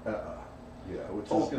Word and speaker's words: Eä: I liked Ea, that's what I thought it was, but the Finnish folk in Finland corrected us and it's Ea.